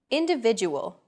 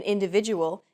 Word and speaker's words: individual: Individual. The stressed syllable v in individual is deemed more important.